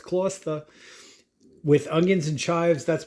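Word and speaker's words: Gloucester: Kloster? That's how you say it. It's Kloster.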